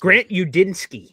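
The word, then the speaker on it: Grant Udinski: It always gets Grant Udinsky.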